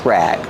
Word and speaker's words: rag: So we say it's a dish rag. Pronunciation rag. Use a short a sound like black cat.